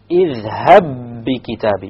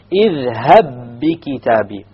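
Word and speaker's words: اذْهَبْ بِكِتَابِي: And over here, another example with ba, اِذْهَبْ بِكِتَابِ. You have a first ba which is silent, and the second ba which has a kasra on it, so you will merge the two and the qalqala will drop.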